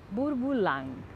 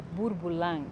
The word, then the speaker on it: Bourboulenc: E tem um nome que eu adoro pronunciar, Bourboulang.